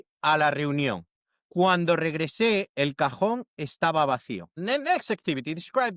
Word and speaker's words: cajón: The J in Spanish sounds like the English H in house, but stronger from the back of your throat.